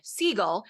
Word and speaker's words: Seagal: So from here forth, Steven Seagal shall be talked about in this podcast as Steven Seagal, as that is how his name is actually supposed to be pronounced.